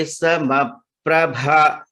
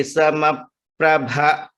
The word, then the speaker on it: समप्रभ: Vakratunda Mahakaya Surya Koti Samaprabha. Bha is Mahaprana. Surya Koti Samaprabha.